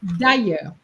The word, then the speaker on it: d'ailleurs: And it's d'ailleurs, d'ailleurs, okay, for the pronunciation, d'ailleurs.